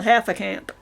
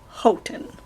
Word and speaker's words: Houghton: I've even been called half a camp. What? That is just so funny. Half a camp. That was somebody over the phone. I don't get it. The correct name pronunciation is Houghton.